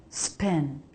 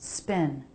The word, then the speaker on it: spin: Spin, spin. It's just spin. A very light separation of the lips. Not a B, spin, but a very light P.